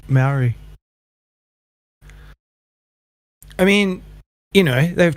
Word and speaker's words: Maori: Maori? I don't know how to say that word. Yeah, you said it right. Maori.